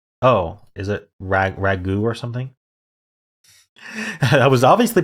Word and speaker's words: ragout: what a ragout is ending in a silent te oh is it raag Ragu or something I was